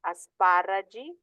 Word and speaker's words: asparagi: parroci, astrologo, astrologi, asparago, asparagi, and theologo, theology. So these do not take the pronunciation of the K or the G, they actually take the Ch with the soft I sound.